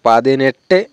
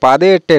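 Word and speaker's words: പതിനെട്ട്: 18কে বলবো পাদিনেট্টে। এট্টে, পাদে এট্টে না, এরকম কেউ কেউ উচ্চারণ করে থাকে পাদে এট্টে। তো অ্যাকচুয়ালি পাদে এট্টে না, এখানে হবে পাদিনেট্টে, এরকম উচ্চারণ করতে হবে।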